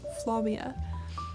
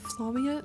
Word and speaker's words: Flavia: AP French you know the V is supposed to be pronounced w What in in Flavia it's supposed to be pronounced Flavia of of course I